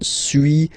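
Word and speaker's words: suis: to pronunciations okay so first one Su as you've been noticing you don't pronounce the final s okay and for two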